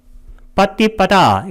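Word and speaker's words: paṭipadā: 인도하는 빠띠빠다 길게 발음해야 됩니다.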